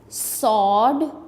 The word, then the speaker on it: sword: Sword, sword में W जो है ये silent है।